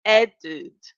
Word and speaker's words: added: If you see the verb add, the last letter is the letter D, right? So the pronunciation, we have to pronounce the E and the D. We have to say added, added.